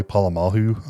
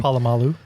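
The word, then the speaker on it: Polamalu: And do you remember uh Troy Palamahu? I think that's probably not how you say his name. Palamalu.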